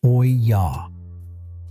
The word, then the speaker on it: olla: The method is called olla irrigation. And if you've never heard that word before, it's pronounced oy-yah.